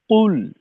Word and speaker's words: قل: আচ্ছা কাউসার ভাই, উম, প্রথমত হলো এই কফের উচ্চারণটাকে একেবারে ঠোঁট গোল করে কুল, কুল, শেষের লামে খুলবো, এটা আলাদা বিষয়।